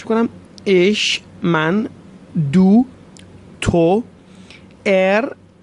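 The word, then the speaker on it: er: ایش من، توجه کنید، خواهش میکنم، ایش من، دو، تو، ار یا اغ، عرض کردم به صورت ر یا غ میتونید تلفظ کنید، ترجیحاً ر تلفظ کنید، هم درسته و هم ساده تر.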